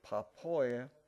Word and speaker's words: Papua: I believe the area was called Papua, if I'm pronouncing the word. Papua New Guinea, yeah.